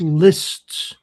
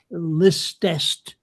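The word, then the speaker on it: list'st: Um that's lists or heardst. People tend to pronounce it as heardest listest and they turn that {apostrophe} s t into another syllable and that's not right.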